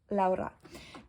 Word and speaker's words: Laura: pronounce this English um I'm calling myself laa um the reason is just I was living for a year in Spain and I really really really love this pronunciation um so yeah I